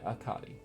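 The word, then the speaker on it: Hecate: I feel like I'm not pronouncing that right. No, that is how it's pronounced. Yeah, Akati.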